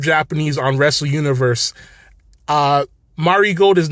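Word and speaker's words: Marigold: is named dream star fighting marod and the pronunciation is Mari gold and uh and not marry gold as some people have been saying so it's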